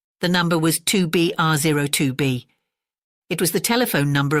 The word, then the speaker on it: 2BRO2B: call the zero in the telephone number he pronounced not the number was 2B R 02b it was the telephone number of an institution